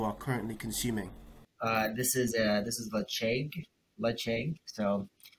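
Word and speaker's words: Ledaig: This is Lecheg, so spelled with a D-L-E-D-A-I-G, Lecheg 10, it's a nice peated Highland whiskey.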